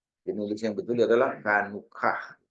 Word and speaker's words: Hanukkah: Jadi nulis yang betul adalah Hanukkah. Walaupun dibacanya K tapi dia CH ya, Hanukkah.